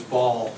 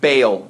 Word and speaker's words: Baal: I always thought of it as ball. Bale. It's got two A's in it, right? Yeah, so you want to say it's like a bay, ale.